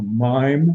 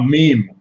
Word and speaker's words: meme: Is it a mime or a meme? A meme? A meme.